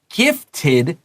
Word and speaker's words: gifted: It said, Are you a gifted child? 这个有 TED, and DED always 发 id, right? So we have tid and did.